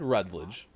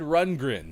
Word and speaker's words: Rundgren: is going to be uh tina turner todd rudledge right oh screw it all right just a